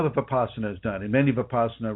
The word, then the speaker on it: Vipassana: Does Vipassana, am I pronouncing that correctly? Vipassana suppress Vipassana.